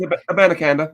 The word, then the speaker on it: Abanikanda: Israel Abanikanda from Pittsburgh. He's 5'11", 215. I probably butchered his last name, but that's okay. This No, last but week, it's a Banacanda. That's how you say it.